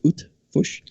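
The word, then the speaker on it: Eötvös: That's Eotvosh, pronounced Utvush.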